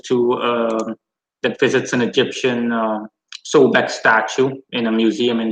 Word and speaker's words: Sobek: Does anyone have thoughts on Sobek? It's pronounced Sobek.